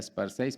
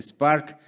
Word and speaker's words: SPAR6C: globales primero recordarles que el proyecto se llama Spark la se obviamente es por el artículo 6 pero no se pronuncia Spark 6 para que todos lo pronuncien tranquilamente Spark como chispa recordarles que nuestro proyecto